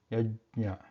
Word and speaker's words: यज्ञ: Yajna, yajna, yajna. So Talavya, ja, and Talavya plus Anunasaka nya, and then a.